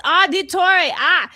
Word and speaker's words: Auditore: It's auditore. And the Italian accent when you say it, Assassin's Creed.